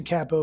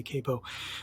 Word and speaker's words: capo: to make him a cappo right and i'll pronounce a capo for you katrina who doesn't like when i say capo so he's got that going on and he's